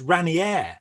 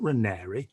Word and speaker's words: Raniere: thing about keith mary a man who couldn't even pronounce his own name properly it says raniere not renery you know i mean